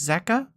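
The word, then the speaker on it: Zecke: in the top right z e c k e pronounced zeka oh yeah their uh model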